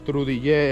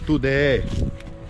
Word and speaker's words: Trudillé: No se pronuncia Trudillé en sí en el idioma creol, sino tudeé.